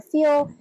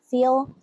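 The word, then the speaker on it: Feil: articles on Naomi I I'm not sure if she pronounces it file or feel but it's F like Frank EI i l Naomi feel um and just start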